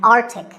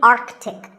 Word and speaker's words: arctic: pole of the earth it's mispronounced by many as arctic but it's actually arctic the sea in the middle is not silent similarly antarctic and antarctica